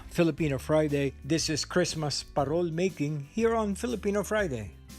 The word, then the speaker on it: parol: warmth then the parol parol is filipino for lantern parol pronounced with a rolling r came from the spanish word farol meaning lantern the origins